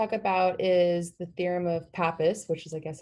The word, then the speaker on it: Pappus: thing that we're about is the theorem of pappus which is I guess how you say it